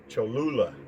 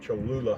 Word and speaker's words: Cholula: sauce and it's imported from mexico i can't pronounce the name cholula i think it's i think that's how you pronounce it cholula hot sauce and then you're gonna need one